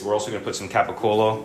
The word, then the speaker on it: capicola: We're also gonna put some capicola or gabagoo, if you are weird and are from New York and say it like that.